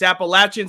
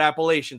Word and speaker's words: Appalachian: north carolina ecu appalachian it's appalachian state by the way not appalachian so say it right um but like that